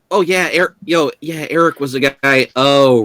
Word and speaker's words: Aric: So Celeste, with my reminder, would you like to tell the others about Eric? It's spelled ARIC.